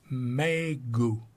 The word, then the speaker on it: Megu: Then he held it up to her and went, Megu. That's how Meg would be pronounced in Japanese, in which N is the only final consonant.